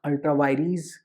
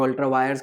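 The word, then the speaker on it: ultra vires: वो कह रहे जी अगर आपने कुछ भी कानून बनाया विच इज अल्ट्रा वायरीज और अल्ट्रा वायर्स, कई लोग कहते हैं, बट I prefer to pronounce it एज अल्ट्रा वायरीज, that is beyond the powers, it shall be void.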